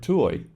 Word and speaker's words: tuổi: Take the word tuổi for age. The T, U, O, E are all pronounced distinctly.